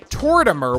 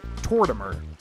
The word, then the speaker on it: Tortimer: fun of me because it's obviously supposed to be like Mortimer, but I never put that together. So yeah, I think it's pronounced Tortimer. Hey, what?